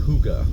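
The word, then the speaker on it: Hygge: Hotel Yankee golf golf Echo Vibes but it's pronounced Huga according to the description on the uh on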